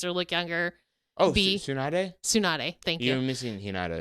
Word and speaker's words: Tsunade: Like, oh, actually, Sonatas.